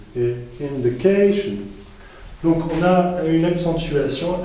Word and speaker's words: indication: Du coup, on dit inflation et indication. Donc, on a une accentuation assez importante sur la syllabe juste avant le suffixe.